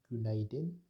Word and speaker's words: günaydın: Günaydın est utilisé le matin pour dire bonjour. Cela se prononce günaydın.